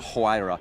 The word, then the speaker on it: Huayra: I mean, just a quick word on that Roadster, because if you want the, tell me how to pronounce it. Huayra.